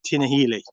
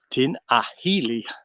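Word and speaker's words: Tinahely: woods but yeah tina it's not spelt correctly but that's how you actually pronounce it tina healy tin ahili but yeah the other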